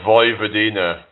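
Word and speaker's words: Vojvodina: Is it Voy Vadina? So the J is pronounced as a Y, right?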